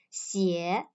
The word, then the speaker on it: 鞋: 鞋 the second tone.